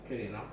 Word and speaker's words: Quirino: Quirino. And That's how you say it in Spanish.